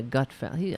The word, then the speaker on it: Gutfeld: fly so for example the Greg Gutfeld is that how you say his name yeah Gutfeld I mean what a name